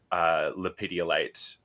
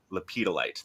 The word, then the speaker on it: lepidolite: And I opened my eyes, and right away, like my eyes were on this big raw lepidolite. Oh my gosh, no, lepidolite.